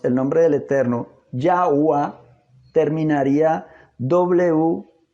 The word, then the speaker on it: Yahweh: y en nuestro razonamiento debiéramos pronunciar la segunda E también como A. Si lo hacemos de esta manera, llevando un razonamiento lógico, entonces el nombre del Eterno debiera de pronunciarse Yahweh.